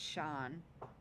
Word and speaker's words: Sian: Oh, it's commonly pronounced Sean.